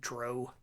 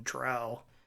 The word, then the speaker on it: drow: I we didn't know that and we always pronounced it dro and so even today I still feel more comfortable pronouncing it Dro rather than drow but uh you know whatever I I call